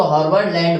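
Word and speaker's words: Haberlandt: और डी और टी एक साथ है तो इनमें से एक को साइलेंट करके आप पढ़ सकते हो, तो हर्बर्ट लैंड बोल दो, ठीक है।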